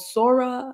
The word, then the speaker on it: Sora: open AI recently released I think it's called sora I don't know how you would pronounce it s o or something like that Sora yeah Sora okay perfect and basically you can